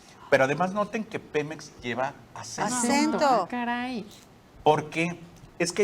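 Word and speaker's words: Pémex: de tal manera que si pronunciamos Pemex debe llevar acento gráfico en la primera e si no lo ponemos tendríamos que decir Pemex Pemex y aquí la regla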